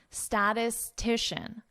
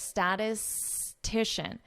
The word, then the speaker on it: statistician: Could be a difficult word to pronounce. Statistician. So notice how I connect this. Statistician.